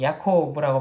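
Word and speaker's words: יעקב: 그 이름이 에서가 되었고요 야구 이름은 히브리어로 야코 오보라고 발음이 되는데 발뒤꿈치 이를 의미하는 아케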